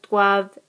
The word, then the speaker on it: doivent: Nous devons, vous devez, ils doivent, elles doivent. Again, we don't pronounce the ENT here.